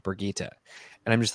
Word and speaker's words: Birgitte: spelled Bridget, would say Bridget. And it was just kind of common, and that's how a lot of people thought about the character. Apparently, it's actually pronounced Birgitte or Birgitta, I think Birgitta.